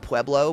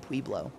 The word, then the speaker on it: Pueblo: oh God what's the I think it's a city literally called Pueblo but no no no they pronounce it peblo there's weird or like